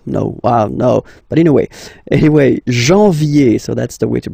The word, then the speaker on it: janvier: But anyway, janvier. So that's the way to pronounce it. Janvier, A-N, en, okay? And then yé, yé, yé.